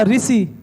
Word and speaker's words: ऋषि: की बात करें तो हम कहते हैं ना ऋषि क्या बोलते हैं ऋषि और देखिए कहते हैं